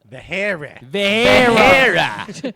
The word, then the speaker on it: Vahara: Vahara. Thanks, Steve. It's pronounced Vahara.